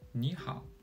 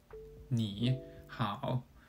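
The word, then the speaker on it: 你好: In this case, we change 你 to a second tone, making it 你. So it sounds like 你好 rather than 你好.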